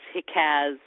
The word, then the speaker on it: Hicaz: So Hijaz and Nahawand are Turkified as Hikaz and Nihavent. Which is funny because in Turkish they sound the same.